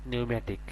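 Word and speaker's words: pneumatic: Same একই রকম পি এর উচ্চারণ এখানে আসে নাই, এখানে পি এর উচ্চারণ না আসে আসছে এন ই ইউ, নিউ, এম এ, মে, টি আই সি, নিউম্যাটিক।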